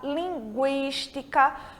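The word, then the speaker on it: lingüística: Então, a gente tem linguiça, linguística, porque a gente está pronunciando esse U, tá certo?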